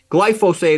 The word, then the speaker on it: glyphosate: like to call it glycine phosphate or glyphosphate glyphosate is often like the most precise correct way to pronounce it but if you call it glycine